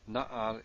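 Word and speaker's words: נַעַר: and what happens with na'ar which means young lad here we have a guttural na'ar is built with two pataks and stress in the first syllable so it also is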